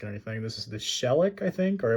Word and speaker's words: Shelek: This is the shellic I think or I believe on the wiki it's pronounced it shayac is how they said it.